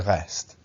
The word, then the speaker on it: reste: We don't pronounce T at the end. Il reste.